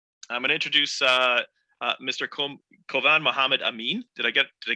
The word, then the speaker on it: Kovan: Kovan Mohammed Amin. Did I get it right, Kovan? Did I pronounce it right?